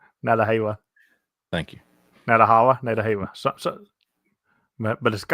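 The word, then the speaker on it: Nantahala: And I'm gonna butcher this national forest name, Nantalaha. Nadahala. Thank you. Nadahala. So, but I'm closer to Nadahala. Okay, Nadahala. Okay, I see it now. Yeah, I was putting the wrong emphasis on the wrong syllable.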